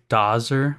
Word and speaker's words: Dozzer: You said Dozer, but it's spelled with two Z's. Is that not a typo? No, it's correct. Wouldn't that be Dozer? I mean, I'm okay with both pronunciations, but it's supposed to be Dozer.